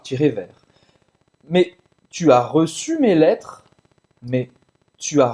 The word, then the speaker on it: reçu: Olha a pronúncia do reçu. Reçu. Reçu, que é o passado de recevoir. Receber em francês, recevoir. Tu as reçu, j'ai reçu. Então, para fazer esse U, faz a boca do O e fala I.